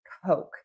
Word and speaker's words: Coke: In American English, we use the very long O. Coke. Coke. Coke and you can see I am moving my mouth or that long O and so when I move my mouth that makes the vowel sound a lot longer.